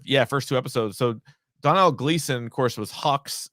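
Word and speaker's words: Domhnall: i believe it looks like d-o-m-n-h-a-l but it's pronounced donal yeah yeah but he was in a movie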